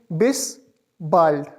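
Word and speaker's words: Bis bald: इसका स्पेलिंग है बी आई एस बी ए एल डी इसको प्रोनाउंस किस तरह करेंगे? बिस बाइल्ड बाइड का मतलब है सून मतलब जल्दी ही और बिस सी यू के लिए यूज़ होता है।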